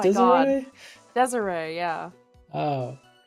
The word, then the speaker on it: Desiree: Is it pronounced Desiree? Desiree, yeah. Oh. I kind of assumed it was like desire.